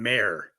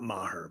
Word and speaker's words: Mayer: It's Colin Mayer, not Maher, but that's just me trying to be.